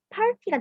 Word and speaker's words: party: 근데 여기서 R이 파르트가 되는 게 아니라 R이 A의 받침처럼 발음이 가서 party가 되는 거예요.